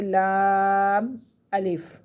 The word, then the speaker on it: لام الف: جیسے ہے لام اور الف، یہ مرکب بن گیا، لیکن اس کو ہم پڑھیں گے اس طریقے سے لام الف، ٹھیک؟